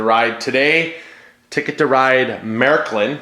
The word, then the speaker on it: Märklin: today ticket to ride Marylyn that's how you pronounce it that there's two dots